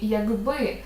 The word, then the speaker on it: якби: - це глухий передб у слові якби буде одзвінчуватися як ти пам'ятаєш його дзвінким відповідником є ґ ґ к в слові